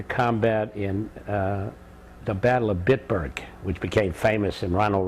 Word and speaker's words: Bitburg: and went into combat in the Battle of Bitburg, which became famous in Ronald Reagan's. Can you spell that?